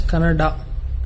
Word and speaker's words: Kannada: People from North India should understand that it is pronounced as Kannada.